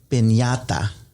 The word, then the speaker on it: piñata: We bought it's officially pronounced a piñata, which I'm Mexican-American, but I don't speak a lot of Spanish.